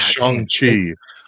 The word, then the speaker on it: Shang-Chi: Ragnarok, 10 Captain America: The First Avenger, 9 Shang-Chi. I said that wrong. I think it's Shang-Chi. Sorry, Shang. It's Shang-Chi.